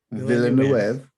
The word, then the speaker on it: Villeneuve: How do you pronounce his last name? Villeneuve.